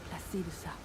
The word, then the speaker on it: Placidusax: Devour its throbbing heart, I will grant you the strength required in the name of my lord, Placidusax. Ah, so now we officially know how Placidusax is actually pronounced.